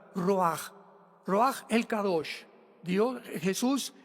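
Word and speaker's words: רוח: La palabra para espíritu en el hebreo es la palabra que es roaj, que se escribe roach con ch. Pero repito, ese pronuncio pronuncia como J. Roaj.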